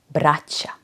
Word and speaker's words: braća: The plural of brat is braća. Even weirder, braća grammatically behaves like a singular female noun, even though it means multiple brothers. Imam dva brata or moja braća su tu.